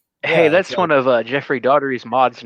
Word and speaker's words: Daugherty: Is Daugherty, like daughter? No, it's not. Daugherty. Yeah. Check every video. He says Daugherty.